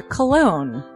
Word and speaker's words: Colon: It is a self-published book by Christopher Colon. Chris Colon?